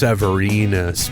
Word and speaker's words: Severinus: it's two years yeah I think you mispronounced the name of the successor though I think his name it's pronounced severinus because his nickname was big penis so in order for that nickname to work it would have to rhyme I would imagine or else it wouldn't make any sense right but you